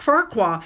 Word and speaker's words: Farquhar: memorial service for Captain Ian Farquhar, I think is how you pronounce it. Like Shrek, Farquhar.